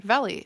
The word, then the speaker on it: Veli: Veli. Okay. How does Veli feel about Alisa? Like vegetables and Lee.